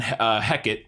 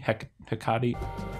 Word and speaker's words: Hecate: And then this is where we're introduced to Brand and Hecate, which is how I'm going to pronounce it. They pronounce it Hecate.